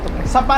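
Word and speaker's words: Sa Pa: going to sapa sa going sao i sapa is the word pronunciation sapa sapa sapa sapa ah okay sapa Nice.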